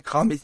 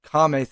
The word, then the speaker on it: Kame: Yeah, I'm pretty sure I just keep on saying Kami's house. I think she meant Kame's house.